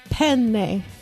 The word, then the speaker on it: penne: way to say it you don't say penne pasta it's not her name pasta it's not penne pasta no it's penne penne there's two n's oh the old italian pronunciate because there's two of the same consonants so it's a long concept it's very important to